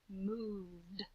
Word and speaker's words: moved: Moved. Where do you think that word belongs? Yeah. It's just like stayed. Moved. I definitely hear that d sound at the end.